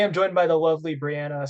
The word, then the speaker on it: Bryana: Today, I'm joined by the lovely Brianna Science. Is that how you say it? Yep.